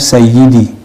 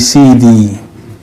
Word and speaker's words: sayyidi: Sayyidi, kalau di orang Arab yang fasih bacanya sayyidi. Sampai dalam dialek harian jadi CD, bukan CD celana dalam, bukan CD yang diputar jadi kaset, bukan CD. Bacanya ada tekanannya CD.